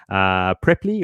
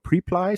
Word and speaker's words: Preply: Preply or Preply, some people pronounce it.